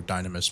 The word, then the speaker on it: Dynamis: And this is the Dynamis music, or Dynamis music, depending on, how you want to pronounce it. The music that would play in the Dynamis zones.